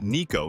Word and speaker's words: Nico: No matter what, it's pronounced Niko, not Niko or Niko.